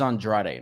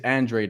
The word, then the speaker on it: Andrade: If he wants to say it's Andrade, it's fine. Demetrius Andrade. But on Showtime, they're saying it Andrade, so that's what I'm going to say as that's well. That's the right way to say, because like, it's like with Christian Pulisic, it's Pulisic, but they call him Pulisic because he's American, even though his name is Croatian.